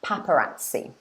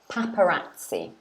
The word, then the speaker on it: paparazzi: Yes, and in English we pronounce this paparazzi. Paparazzi. Paparazzi. So it's 4 syllables, paparazzi.